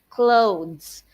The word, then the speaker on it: clothes: clothes for the event now for the clothes teachers the th there would sound like D I know right English is confusing because sometimes yeah the sounds of some letters would diff would be different okay so that is clothes okay next she bought